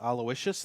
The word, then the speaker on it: Aloysius: Major Aloysius. Aloysius. Aloysius, thank you. and his last name is hyphenated. It's Blythe Manders. It's Sius, not C.